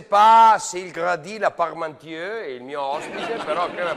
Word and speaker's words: Parmentier: E pronuncia bene come si chiama questa cosa. Parmentier. La crema. Parmentier.